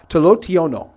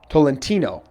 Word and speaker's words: Tolentino: number 56 in there Toby tolotional that is not how you say his name but um good play by Toby that time Tolentino so Tolentino with the